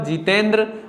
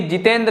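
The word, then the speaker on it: Jitendra: तो यहां पर जितेंद्र, अब ना द्रा ये हमें लिखना है।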